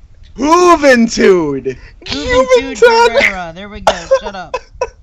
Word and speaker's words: Juventud Guerrera: Juventud Guerrera.